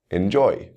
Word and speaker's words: enjoy: on the second syllable let's look at verbs first enjoy prepare describe you can hear the stress on that second syllable next we'll look at